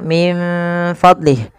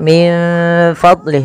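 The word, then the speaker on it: مِن فَضْلِهِ: Kita membacanya menyamarkan nunnya kepada huruf fa. Menyamarkan huruf nun kepada huruf fa ya, Teman-teman. Itu nunnya min fadlih.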